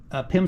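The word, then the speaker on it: PEM: And these PIM studs, which is spelled capital P-E-M, is the company that makes these. PIM is a brand name, but it's kind of generic.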